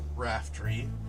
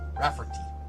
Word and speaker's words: Rafferty: And this is a picture of Chris Raftery, and Lulu. Rafferty? Rafferty, yes. I know I was fucking up the pronunciation.